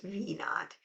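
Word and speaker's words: v₀: of zero okay and it's pronounced V naught and that is the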